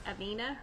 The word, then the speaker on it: Avina: Are we pronouncing that correctly, Carol Lou? It's Avina.